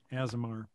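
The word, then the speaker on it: Aasimar: an azomir um asimar azamar is that how you say it yeah asmr and uh so i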